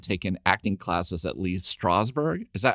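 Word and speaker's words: Strasberg: And I was really not surprised but shocked to find that like Jeffrey had taken acting classes at Lee Strawber.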